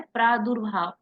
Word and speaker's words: प्रादुर्भाव: ठीक है, इसका जो उच्चारण है, रेफ वाले रा का उच्चारण कैसे करते हैं? ये शब्द के पहले जिस शब्द पे लगा होता है, जैसे भा में लगा हुआ है उसके पहले आएगा प्रादुर्भाव। इसको हम पढ़ते क्या है? प्रादुर्भाव।